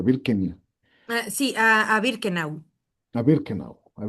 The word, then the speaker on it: Birkenau: Y él fue enviado ¿cómo se pronuncia? Birkenau.